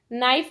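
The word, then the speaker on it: knife: नाइफ में के silent है तो के पर सर्कल करेंगे।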